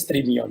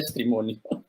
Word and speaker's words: Streamion: Sí, Yankee, es Streamion, esto no era Streamonio.